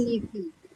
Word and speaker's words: nephew: Bacanya nephew. Karena kalau P sama H itu dibacanya F. Nephew. H dibacanya F.